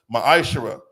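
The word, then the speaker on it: מעשר: It's pronounced ma'ashara.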